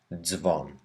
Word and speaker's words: dzwon: We need to pronounce each sound Z whenever it doesn't have an I, as in bardzo or dzwon.